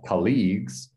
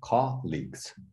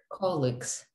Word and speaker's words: colleagues: of colleagues so not colleagues but with the intonation on the first one colleagues colleagues colleagues good good good perfect